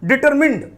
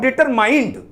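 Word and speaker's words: determined: डिटरमिन्ड, नॉट डिटरमाइंड, pronunciation is डिटरमिन्स, not dedication is another thing निराली, बट आप कह सकते हो डिटरमिन्ड कह सकते हो, दृढ़ संकल्प।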